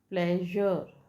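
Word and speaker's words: pleasure: प्लेजर, कैसे लिखते हैं प्लेजर की स्पेलिंग, प्लेजर। अब ये एस यहाँ य की तरह यूज हो रहा है, प्लेजर नहीं है ना।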